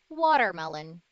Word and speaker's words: watermelon: about fruits number one watermelon watermelon you see the ter on water inside of watermelon it becomes a soft d again because when the